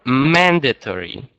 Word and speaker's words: mandatory: And number 4, mandatory. Mandatory. Okay, mandatory, stressing on A, first A.